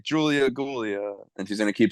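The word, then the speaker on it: Giulia: I'm trying to see how to pronounce Julia. Okay. it's Gulia.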